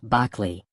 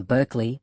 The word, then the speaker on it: Berkeley: Although the philosophers's name was traditionally pronounced Barkley, the Americanized pronunciation Berkeley became standard for the city.